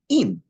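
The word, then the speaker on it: עִם: Am is spelled Ayin Mem. The same word with instead of an A patach, a chirik, an E, is im.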